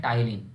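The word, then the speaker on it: ptyalin: उसको हम कहते हैं टाइलिन। पी साइलेंट है, पटाया नहीं कहना, टाइलिन कहते हैं।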